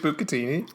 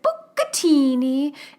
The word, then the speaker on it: bucatini: in follow-up about bucatini the reason why i pronounce it book a teeny is not to be um insensitive to italian-americans it's because i'm making fun of tiata de laurentiis you're making fun of